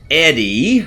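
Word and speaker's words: ED-E: go it's overhead and it's Eddie I think is the theoretically preferred pronunciation but I will admit that I have always called it Edy uh I think there's just a this is what it looks like looks like Edy so hi Edy companion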